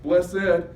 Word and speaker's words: blessed: The word blessed here is a double syllable, blessed, which means God is full of grace, or God is the dispenser of grace.